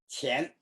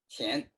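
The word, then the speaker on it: 乾: acuerdo cómo se pronuncia, Shen, could be the pronunciation of that? qian. Shen, que, okay. Qian.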